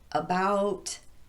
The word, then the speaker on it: about: And how about those words like around, across, among, along, about, and so forth? It's clearly the second syllable that's getting the emphasis here, but these words typically occur as part of a prepositional phrase.